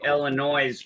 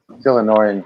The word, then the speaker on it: Illinois: I I don't call And I also call my home state Illinois because I don't believe in the silent s. I think it's stupid. Illinois.